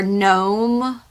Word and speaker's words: gnome: In English, we have words like knife, where you don't pronounce the K, or gnome, where you don't pronounce the G.